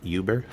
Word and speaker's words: Uber: They invest in Uber, sometimes pronounced Uber, and they actually invest in Turo as well.